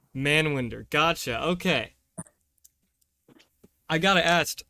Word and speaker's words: Manwinder: god man wonder man winder how do you pronounce it man wonder that is my full name man winder gotcha okay i gotta ask uh the punjabi